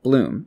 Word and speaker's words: Blum: It's not Steve Blum, it's Steve Bloom.